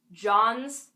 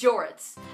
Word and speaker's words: Jorts: me up and and he was like johns johns and I'm like what who is that and then they say my name and I'm like oh okay it's jorts and the weird thing